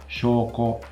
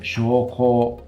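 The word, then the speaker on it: 証拠: proof or evidence is shoko. Now there I pronounced the first vowel long and the second vowel short, and that's correct. But sometimes I can't remember. I think, is it shoko?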